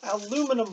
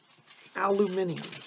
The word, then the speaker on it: aluminium: nothing like a little aluminum foil or for my British friends aluminium foil by the way I agree with the British pronunciation aluminium so what you do